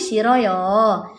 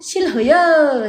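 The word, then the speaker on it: 싫어요: E bacanya bukan sil tapi siroyo. Kok bisa dibaca siroyo? Ya. Ya. Karena itu, Beb. Bacim ha ketemu dengan vokal enggak mau baca. Jadi r-nya yang terpaksa naik. Ihha. Ini ngadi-ngadi ya. E pelafalannya jadi siroyo. Siroyo. Oke gitu beb. Tidak ada tuh. Silhoyo. Siloyo tidak ada.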